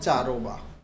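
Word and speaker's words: Cheiraoba: correct answer কি হবে চারোবা বাংলাতে উচ্চারণ এইরকম কিন্তু ইংরেজিতে তুমি যদি চারোবা বানানটা দেখো তাহলে সি এইচ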